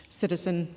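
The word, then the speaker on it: CSDH/SCHN: we had the joint ACH citizen that is how you can pronounce csdhschn the joint ACH citizen conference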